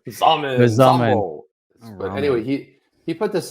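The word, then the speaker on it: Xaman: I know it rhymes with ramen. It was Zamen. Zamen.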